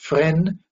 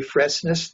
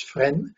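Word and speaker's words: Fresnes: caught went to friend prison it's called it's pronounced friend we say freshness no it's friend prison outside of that terrible prison a gestapo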